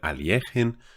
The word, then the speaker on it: Alekhine: this game it was alekhine or well if you want to go with the proper russian pronunciation i think it's something closer to alien but most people know him as alexander alakine former world champion and